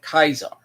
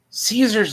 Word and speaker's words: Caesar: She tries to go, why would you use the Latin phrase Kaiser instead of C say Caesar instead of Kaisar which Caesar's legion or Kaisar's legion depending on how you say it is actually designed on Roman tradition.